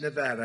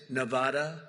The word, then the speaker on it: Nevada: And don't ever mispronounce their name. You're not allowed to do that. You mispronounce the name, you got a problem. You ever see somebody when they say it's Nevada? Nevada.